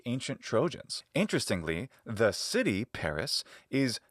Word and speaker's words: Paris: And her new husband, the Trojan who took her to Troy, of course, was Paris, and that's Paris, both in Latin and ancient Greek pronunciation.